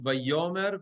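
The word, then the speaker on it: וַיֹּאמֶר: You see why it's Vayomer? Because the mercha is under the yud. I mean, it has also dagesh, but doesn't matter.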